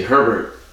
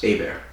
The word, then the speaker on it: Herbert: So, most people say Herbert, but if you go to Louisiana, it's pronounced Hébert.